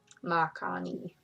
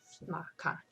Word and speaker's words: Makani: Makani. Pretty sure that's how you say it, because Hawaiian you pronounce every letter, like ma, Yeah. ni, Hawaii, yeah, Makani.